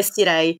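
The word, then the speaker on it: Cirey: Chateau de Siri No Ho guardato su YouTube un video perché devo dire che non ero sicurissima della pronuncia Comunque è sirei Lo Chateau de sirei Lo Chateau de sirei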